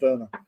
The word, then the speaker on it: Werner: They pronounced the word slightly different there. Yeah, like a W becomes a V.